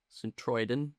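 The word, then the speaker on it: Sint-Truiden: pronounce it? St. Trouden? St. Troiden.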